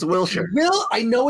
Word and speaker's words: Wilshire: way wilshire i want a drone shirt it's wilshire well i know it's pronounced will's shirt but some people don't get